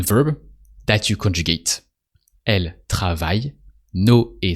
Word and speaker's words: travaille: On travaille. And that's it. No a sound at the end of travaille. Just on travaille.